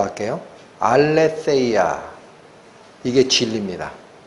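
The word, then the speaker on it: ἀλήθεια: 헬라어 단어가 뭐냐면 예 오늘 자꾸 헬라어 많이 발음해서 죄송한데 한 번만 더 할게요 알레테이아 이게 진리입니다 알레테이아 무슨 뜻이냐 레아라는 단어 앞에 부정 접두어 아를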